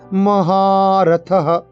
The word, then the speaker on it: মহারথঃ: শিখণ্ডী চ মহারথঃ, মহাতে টান হবে, মহারথঃ।